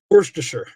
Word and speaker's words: Worcestershire: Worcestershire. That's how you say it.